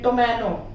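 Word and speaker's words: ptomaine: एक और देखते हैं, टोमैनो, ये हो गया PTOMANO, तो टी से पहले पी आया है, वहां पर हम साइलेंट करेंगे।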